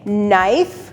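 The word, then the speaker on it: knife: start होते हैं और यहां पे के रहेगा साइलेंट और एन निकालेगी अपनी साउंड न की तुम्हारे पास वर्ड्स हैं नाइफ नी निट नो फिर चलते हैं अपने थर्ड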